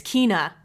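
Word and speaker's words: Kena: I always pronounce this incorrectly. Kenna Kenya Bridge of Spirits. Kenna Ka. Kina. Kina. That's it. It's Kina.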